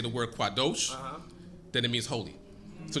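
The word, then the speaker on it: קָדוֹשׁ: you also have the word quadesh when you pronounce it as quadesh it means male temper prostitute when you say the word quados then it means holy so just because it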